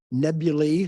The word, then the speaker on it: nebulae: Nebulae, that's the right pronunciation of the plural, and clusters, globular, open, da, da, da.